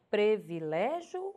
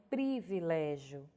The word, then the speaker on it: privilégio: com o i e outra que causa dúvida é previlégio ou é privilégio olha aí a palavra pra você na tela o correto é privilégio ok privilégio então aqui